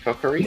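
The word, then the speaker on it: Kokkuri: Track two, Kokuri, I guess. Is that how you pronounce it? Kokuri?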